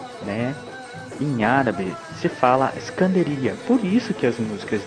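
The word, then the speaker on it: إسكندرية: importante é Alexandria né em árabe você fala iskandaria por isso que as músicas de Miley alaf né normalmente os cantores pronuncio a palavra iskandaria durante almoço Porque fala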